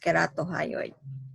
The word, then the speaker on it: ceratohyoid: some will spell it as keratohyoid it's actually pronounced as keratohyoid it's print it's either letter c or k